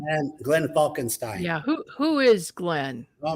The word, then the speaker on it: Glenn Falkenstein: correct pronunciation? And Glenn Falkenstein.